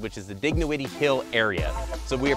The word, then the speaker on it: Dignowity: It's Dignowity. But we are in the way I believe it is said, which is the Dignowity Hill area.